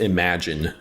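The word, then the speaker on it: Imogen: Her name is pronounced Imagine.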